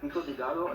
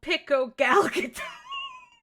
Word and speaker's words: pico de gallo: Some of these folks are just adding extra letters and syllables to it, even though they're all grown adults who can, by all assumptions, read, and it's right there in front of them.